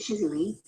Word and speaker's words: Jujuolui: My name is Jujuolui, pronounced Jujuolui.